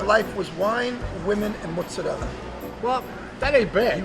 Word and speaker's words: mozzarella: you say correctly because a lot of people come in and say i want to make mozzarella let's go make mozzarella what do they say from connecticut mozzarella and how do you say it mozzarella so let's go you know what's up when you say mozzarella it even tastes better this was in